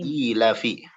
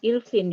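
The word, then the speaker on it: إيلاف: Ilafi. Gimana? Dibacanya li ilafi aja. Li ilafi. Oh, jadi bukan ilfin ya, Ustaz.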